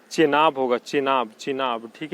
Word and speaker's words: Chenab: झेलम मत मारिएगा, झेलम नहीं होगा, ठीक है, चेनाब होगा, चेनाब, चिनाब, ठीक है, चिनाब, CHENAB, चेनाब लगता है इसी यही स्पेलिंग होता है, ठीक है, चेनाब होगा।